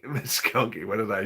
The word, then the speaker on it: Muskogee: It's pronounced Muskogee. Muskogee.